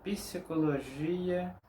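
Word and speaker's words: psicologia: Significa que en algunas palabras que la letra P en español no es pronunciada, en portugués sí, ella es pronunciada. Como por ejemplo, psicología.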